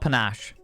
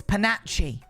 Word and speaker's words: panache: It's not panache. It takes panache.